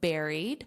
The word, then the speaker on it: buried: They have been found buried. So notice the pronunciation here does not match the spelling buried. Buried. So the pronunciation is just like a strawberry or a blueberry berry.